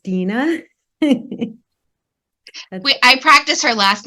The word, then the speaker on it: Dina: So my first name is pronounced Dina.